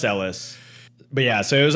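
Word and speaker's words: Ellice: totally named after Ellis Island e-l-l-i-c-e so like Elise okay um but yeah pronounced Ellis but yeah so it was under the British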